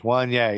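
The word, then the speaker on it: Wanyá: Wanye.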